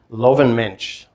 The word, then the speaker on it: Löwenmensch: It's known as to pronounce this correctly, Löwenmensch, or literally it means lion man.